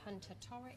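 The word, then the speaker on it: Hunter-Torricke: you so just to check your surname um pronunciation everything hunter toric that's right okay and we're gonna i'm going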